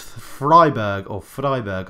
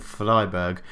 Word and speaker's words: Freiburg: And we've been drawn against Freiburg, I think is how you pronounce it, Freiburg, in the second round of the German Cup after the 8-0 hammering of Hamburg.